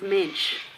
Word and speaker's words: mensch: The word is mensch. It rhymes with bench.